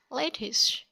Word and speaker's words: lettuce: The right pronunciation is lettuce.